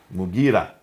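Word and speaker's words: Mughira: Sorry for the pronunciation. Abdul Qais. Qais. In Syria, Al-Mukarid ibn Shuba. Mugira ibn Shuba.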